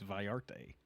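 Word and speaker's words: Vallarta: No, it's pronounced with a Y if there's two L's in there.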